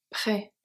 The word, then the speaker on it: près: Au chocolat et à la vanille, près des magasins. Chocolat, noté at the end, chocolat, et à la vanille, vanille. So the E is silent. Près, the S is silent.